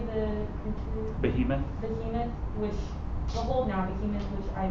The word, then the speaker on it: Behemoth: Behemoth, behold now, behemoth, which I made with thee.